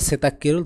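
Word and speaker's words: 세탁기를: washing machine চালু করা এর উচ্চারণ হবে সেতাকিরুল এগিয়ে উচ্চারণ হবে ক আপনারা যারা বাসিমের ক্লাসগুলো করছেন বা ভিডিও গুলো দেখছেন তারা সহজে বুঝতে পারবেন তাহলে এর উচ্চারণ কি দাঁড়ায় সেতাক্কিরুল থলিদা অর্থাৎ ওয়াশিং মেশিন চালু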